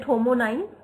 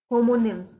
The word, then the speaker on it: homonym: this word anyone is it homon is it correct if I say homon is it correct correct how do you pronounce it homonyms so what is homones or homonyms which is the correct pronunciation just click on this yes name is the correct pronunciation homonym just click on this